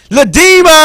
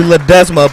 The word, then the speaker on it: Ledesma: Ledema. What's good, my G? I didn't fuck your name up this time, did I? Well, almost. It's actually Ledesma, but close enough.